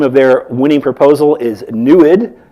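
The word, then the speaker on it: NEID: their winning proposal is newid they pronounce it that way because it's apparently a Native American word that actually you know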